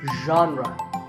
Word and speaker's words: genre: how would you say the correct pronunciation is genre pay attention to the first sound it's like but you have to put your voice into it genre genre next up